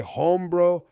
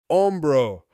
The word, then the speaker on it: hombro: We hear the shoulders say hombro, hombro. Hombro is the Spanish word for shoulder. Again, let's take a few seconds and let this sink in. Also, in Spanish, the H sound is silent. So hombro is pronounced hombro.